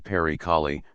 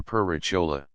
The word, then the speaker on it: Perichola: momentos de discordia semiconyugales, llamaba en su mal pronunciado castellano Pericali, por decir Perichola. Es una casa que se